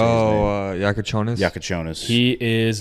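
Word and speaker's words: Jakučionis: Oh, Yakonis.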